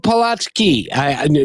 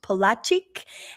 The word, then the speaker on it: Polaczyk: And I think Jakub Polaczyk. No, that's wrong. Rochelle? Yes, well, you can pronounce it Jakub or Jacob if it's easier for you. His last name is pronounced Polaczyk, and he's got a website that Kevin's talking